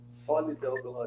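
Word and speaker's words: Soli Deo Gloria: Como que se pronuncia mesmo, Marcos? Como é que é? Soli Deo Glória.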